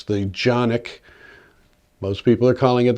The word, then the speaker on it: Canik: It's the Jonic. Most people are calling it the Canik on this channel. I'm going to be calling it the Jonic because it's a Turkish weapon and that's how they pronounce it.